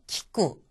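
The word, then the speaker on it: きく: 이거를 예를 들자면은 키라고 하는 것은 키쿠라는 단어의 첫음이 왔으니까 키와 가깝게. 그 다음에 쿠 같은 경우에는 첫음이 아니잖아요. 그러니까 꾸처럼 해서 키쿠라고 발음을 한다는 겁니다.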